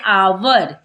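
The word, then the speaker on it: hour: यहाँ पर पढ़ते हैं आवर, क्यों क्योंकि एच जो है ओ यानी वॉवेल के पहले है तो एच हो जाएगा साइलेंट, तो पढ़ेंगे आवर।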